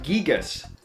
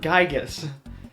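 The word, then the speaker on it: Giygas: fun fact actually uh it's pronounced gigas not gigas according to both your eyes the phonetic pronunciation of the word the name and uh according to marcus lindblom the localization director uh i i'm not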